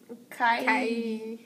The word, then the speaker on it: Karyala: And I mean, the way we try to pronounce it is Karyala. Karyala.